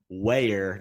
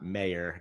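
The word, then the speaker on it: Wayer: off by apologizing for my pronunciation of Ben weer not mayor got my W's and M's mixed up there but huge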